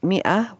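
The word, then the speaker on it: مائة: And in Usmani script, yes, mi'ah, although we pronounce it like that, we spell it like this with a silent alif.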